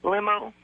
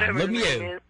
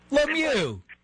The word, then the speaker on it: Lemieux: Limo. Oh, come on. Lemieux. Lemieux.